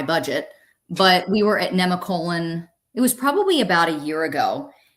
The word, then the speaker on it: Nemacolin: Nate and I last weekend we went to Nemacolin. I always called it Nemacolin, but it's in Farmington, Pennsylvania, and apparently it's pronounced Nemacolin.